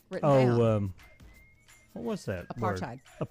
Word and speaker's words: apartheid: And I have to say, I had never seen the word that I mispronounced written down. What was that? Apartheid. Word? Apartheid.